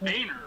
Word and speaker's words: Boehner: Well, yeah, cuz you know John Boehner's name is pronounced Boehner, right? I know, right? I always pronounce it boner because he's such a So, what about you, Joey from last week?